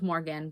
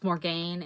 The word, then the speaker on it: Morgane: she's called Morgan, but it is pronounced Morgane in this movie. But even though it's spelled Morgane, it's Old French and probably would have been pronounced as Morgan anyway. But they pronounce it as Morgane, and that's fine to me because they're pronouncing it as it's spelled.